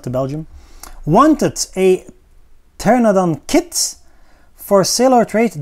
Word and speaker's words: Pteranodon: By the way, I pronounce it Pteranodon with the P, but I know in English the P should be silent. But I'm using the Latin pteranodon, of course. So pteranodon in English.